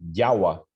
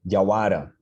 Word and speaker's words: jawara: Então, se a gente tem formas citadas na literatura, como, por exemplo, Jawa, para onça, no Wayampi, e que se referem, na verdade, ao Wayampi do Alto Oiapoque, no Wayampi do Amapari, a gente tem o acento localizado na sua posição etimológica, Jawara.